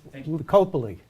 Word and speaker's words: Lipicoli: And it's Lipicoli. Oh, all these years I've been pronouncing it wrong?